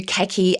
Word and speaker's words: khaki: called khaki coded and if you are in New Zealand, you would pronounce this khaki coded and I get lots of comments when I actually refer to khaki as khaki because it must sound